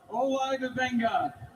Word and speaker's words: Odafe Oweh: With the 14th pick in the 2026 NFL Draft, the Baltimore Ravens select Odafe Oweh, defensive end There it is.